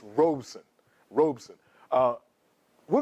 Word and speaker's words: Robeson: hear me slip a couple times the actual pronunciation of his name is Robeson Robeson like robon but when it comes out sometimes it comes out as robon but it's Robeson Robeson uh we're g to talk about how